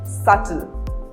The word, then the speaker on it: subtle: Whenever B precedes the letter T in a word, B is not pronounced. For example, subtle or debt.